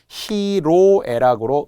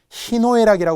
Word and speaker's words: 희로애락: 음이 변해요 그런데 놀랍게도 많은 분들이 희노애락이 말하는 분들이 있어요 틀린 거예요 원래는 맞았어요 희노애락이 보음이기는 했지만 기쁘고 노여워하고 슬프고 즐거워하는 것에 그 글자가 어찌어찌하다 보니까 발음의 변화가 수반돼 희노애락이 좀 어려웠나 봐요 옛날 이제 우리가 살아오던 사람들이 쓰다 보니까 히노애락 히노애락 하다가 희로애락으로 바뀐 거예요 사실 그런 예들 중에